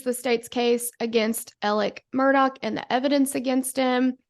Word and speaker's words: Murdaugh: I'm like ooh ouch no it's pronounced Murdoch but it doesn't make any sense but it is so